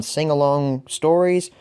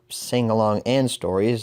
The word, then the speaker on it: Sing-Along Stories: Our next review, as stated previously, will be on Sing-Along Stories, or Sing-Along and Stories, as it's actually pronounced.